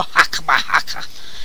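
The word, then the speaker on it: Chokhmah: These are How would you pronounce that? Hokama? And Binah? I'm not sure. Where located are you at? Right here? Hokama? Oh, right here? Right there, yeah. Hakma? There you go. Hakma.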